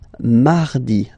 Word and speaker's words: mardi: You don't move your tongue, so it doesn't sound like mardi, no. It's really soft, mardi, mardi, mardi, okay?